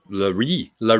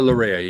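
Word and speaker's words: Laryea: His name isn't Larry or Larea. He doesn't mind which way it's pronounced. I'm going to stick with Larea.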